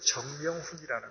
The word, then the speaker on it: 정명훈: 첫째는 그분의 이름이 여전히 정명훈이라는 것이었습니다. C-H-U-N-G, M-Y-U-N-G, H-O-O-N. 외국인에게 가장 발음하기 어렵습니다. 청명훈입니다. 특히 그분은 프랑스에서 활동하죠. 프랑스에서는 정 발음이 안 됩니다. 훈이 안 돼서 이럽니다.